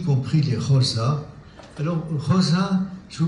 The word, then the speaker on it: Xhosa: Pour Xhosa, ça s'écrit K-H-O-S-A. Xhosa. C'est Xhosa. Xhosa. C'est-à-dire ça se prononce de la gorge.